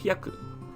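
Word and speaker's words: 百: It is pronounced as hyaku.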